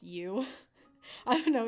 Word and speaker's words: Uoo: and I call it you, but it's spelled like UOO, like almost like goo, but it's you.